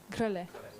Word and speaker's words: Grelet: Yes, Grelet. Grelet, yeah, more French.